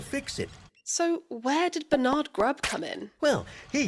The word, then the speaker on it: Bernard: story than this man, Bernard Grubb. So vote for a brighter future. Vote Grubb. Question, Bernard. Mr. Grubb. It is pronounced Bernard.